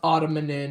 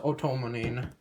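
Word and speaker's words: Otomonin: Then the shuriken, the blades, and then the otomanin, which it's not pronounced ottomanin, it's pronounced otomanin for some of you out there.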